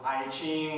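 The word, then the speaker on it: 易经: Yi Jing is the Chinese pronunciation, and I know we have an English spelling. Probably people call it I Ching or something.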